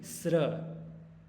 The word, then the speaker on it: स्वस्रादिभ्यः: न षट स्वस्रादिभ्यः, इसका स्त्र नहीं, स्र।